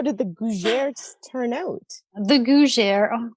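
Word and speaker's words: gougères: Okay, I believe it's Gougeres.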